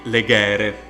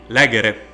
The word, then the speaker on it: legere: we have to be careful to the accent because that verb will not be legere but it will be lagere because the penult syllable has a short vowel as that short a therefore the accent will fall on the antepenult this is of course